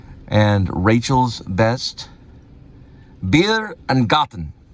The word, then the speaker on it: Garten: And Rachel's best, Bier and Garten. Garten is how you say it.